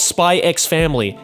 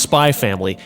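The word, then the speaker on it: Spy × Family: it's just hunter hunter it's not spy x family it's just spy family like yeah sure is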